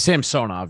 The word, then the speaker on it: Samsonov: Ilya Samsonov, or Samsonov, how do you pronounce it? It's Samsonov, yeah.